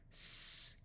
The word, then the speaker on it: scheme: Both of these words will use the second sound of K, which we covered in level 2, lesson 7. Scheme, scheme. Notice the silent E makes the E have its long sound.